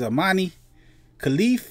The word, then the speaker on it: Imane Khelif: This is Imane Khelif versus Angela Carini.